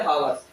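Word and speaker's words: hours: एन आवर्स, आवर्स, एन आवर्स, एन आवर्स क्यों लगा, क्योंकि ये आवर्स पढ़ा जाता है ना, ये अच्छा साइलेंट होने की वजह से ये एन लगता है, ठीक है।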